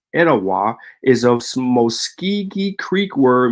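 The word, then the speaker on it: Etowah: Theory the theala or ET pronounced today as etawa is a Mosi Creek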